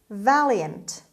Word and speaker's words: valiant: food word number 11 valiant valiant valiant the stress is at the beginning means brave or courageous